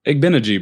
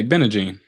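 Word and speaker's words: Igbinoghene: They commented, they told us how to pronounce it, so I was trying to remember. I'm gonna sound it out. Toe. Oh, you're talking about this guy on the Commanders. Igbenegee, bro. Igbenegee. Yeah, Igbenegee. Easy.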